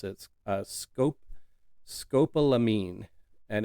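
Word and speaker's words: scopolamine: Uh scope scopalamine and it's spelled sc o p o l a m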